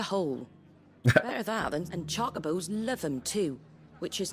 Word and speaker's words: Chocobo: I guess Chocobo is more of a... It's closer to the Japanese pronunciation of it.